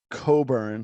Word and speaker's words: Cockburn: I can't remember uh it's pronounced Coburn but it's spelled oh right cockburn and actually funny story